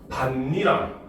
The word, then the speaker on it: 밭이랑: 이때 어떤 변화가 일어난다 먼저 밭이랑 바로 음절 끝소리 규칙이 일어나고 그다음 밭 니랑 여기서는 니은 첨가가 일어나고 그다음 마지막에 여기서 비아가 일어나서 반니랑 바로 비아가 일어나서 요렇게 발음이 되는 형태를 취합니다 알겠죠 그래서 요거